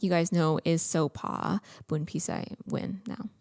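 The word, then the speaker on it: Sopha: parents gave me because sopa and you know the law culture the h is silent and so but it's spelt with the h-s-o-p-h-a so it looks like sofa in the american pronunciation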